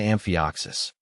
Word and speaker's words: amphioxus: Amphioxus, pronounced amphioxus, is the species name, derived from the Greek word for lancelet, a primitive fish, likely referencing the plant's slender leaves.